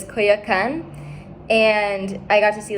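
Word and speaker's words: Coyoacán: It's like I'm going to mispronounce it now, but it's Coyoacan.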